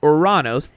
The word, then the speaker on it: Uranus: In the same episode, Buford, manning the cockpit of Uranus, opts for the more appropriate alternative pronunciation, Oranos, in an attempt to dodge the network's censors.